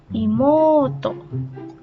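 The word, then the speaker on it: いもうと: Imoto adalah adik perempuan. Dibacanya karena ada U nih ya, berarti O-nya dibaca panjang. Imuto.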